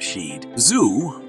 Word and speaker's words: Shih Tzu: these little lion dogs shitsu's pronounced she'd Zoo are an ancient breed